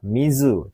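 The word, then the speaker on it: 水: Ya, kanji soal nomor 9 ini ya, cara bacanya di garis bawah ini adalah kanji hai, pilihan ketiga yaitu mizu.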